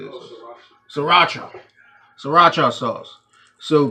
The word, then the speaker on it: sriracha: Sriracha.